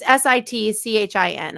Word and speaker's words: Sitchin: It's Sitchin. I know how to spell it because I had the book.